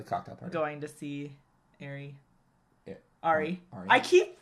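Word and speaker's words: Arie: The reason why I say R, like the letters R-E. R-E, because that's how you say it. R-E.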